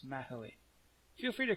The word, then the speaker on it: Mahoe: I looked up how to pronounce this. Blue Mahoe? Yeah. Maho. I think it's 3 syllables. Mahoe.